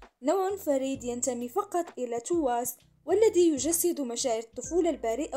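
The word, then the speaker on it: TWS: بليديس للترفيه رسميا ان تي دبليو اس تنطق مثل كلمات الانجليزيه تو ستترسم في يناير المقبل كشفت الوكاله ايضا ان تو از التي تمثل اول فرقه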